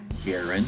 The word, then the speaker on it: Garand: He invented the M1 Garand, which is the way that he says that he pronounces it, and then gave the patent to the United States.